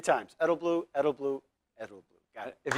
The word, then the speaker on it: Edelblut: Edelblut, the T is silent.